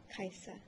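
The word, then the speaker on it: Kiasa: s i Ms okay and how do you pronounce that kaisa okay kaisa or Miss Sims what would you like to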